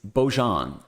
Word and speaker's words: Beaujon: Our fifth new release and our second coming out of Heavyweight Type Foundry is Beaujon.